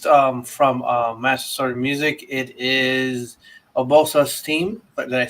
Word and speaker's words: Urbosa: It is Urbosa's theme. Did I say it right? Yes, Urbosa's theme from Breath of the Wild.